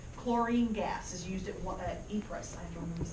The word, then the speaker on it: Ypres: The British made fun of the name of this Belgian town by calling it Wipers. If you look at the way it's spelled, it's Ypres.